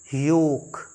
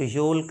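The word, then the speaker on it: yolk: servant a personal attendant Y ओ एल के यह है योक योक the yellow part of दी एग अंडे का जो पीला वाला हिस्सा होता है उसे हम पढ़ते हैं योक ल्क नहीं एल का साउंड नहीं है माय डियन और यह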